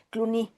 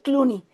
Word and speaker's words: Clooney: actor de Estados Unidos, yo lo pronuncio en francés porque el apellido es francés, no me acuerdo cómo se pronuncia en inglés, Cloney, no recuerdo ahorita su nombre. Ah, George Cloney. George Clooney.